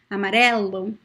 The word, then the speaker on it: amarelo: are closed okay and the word amareldo amarela both are open amarelo amarella amarello amarela okay so yeah